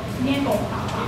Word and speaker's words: 月光華華: 那我的客家话不好，学生一再纠正我，叫做捏拱华华，我不知道发音对不对啊。